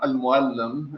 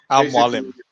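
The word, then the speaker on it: Al Mualim: And that's how we say it. Okay. Al-Muallim. It's like, teacher, or like Al-Muallim. Yeah, it's the equivalent of sensei, mentor, basically. Did I say it correctly now? Al-Muallim? Yeah, you said it correctly.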